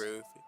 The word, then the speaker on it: Lanayru: well, if I it's like a- how you meet Zant the first time when you revive Lanairu. I don't know. how Yeah, it's pronounced. Lanayru.